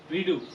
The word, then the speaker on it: Rideau: Redo. How do you spell it? Rideau. Rideau. Redo. Like redo it?